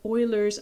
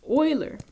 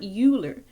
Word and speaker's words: Euler: concept check for today to prove what's called euler's identity now just a heads up y'all while